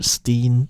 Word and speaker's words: S10: to be S10 or Steen, depending on how you want to pronounce it, because, in Dutch, the word teen means 10, so Steen, that's where her stage name comes from.